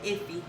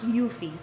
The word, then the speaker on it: Eufy: the Willow Go mom cozy and this one is the iffy ify or iffy. Sorry, I don't know if I pronounced it wrong. So, it's actually pronounced Yuthie.